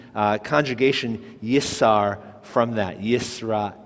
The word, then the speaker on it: Yisrael: now we have L the first letter Alf Alf is a silent letter followed by the the the the a a that's a a sounding vowel and it leads to the l l lamed so we had yra